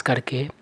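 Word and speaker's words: coup: इस वर्ड का सही उच्चारण होता है कू। इस वर्ड में पी का उच्चारण नहीं होता है, पी साइलेंट है।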